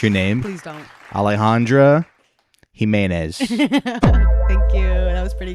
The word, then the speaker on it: Alejandra Jimenez: I don't want to</b> <b>mispronounce your name.</b> <b>Please don't. Alejandra Jimenez.</b> <b>Thank you.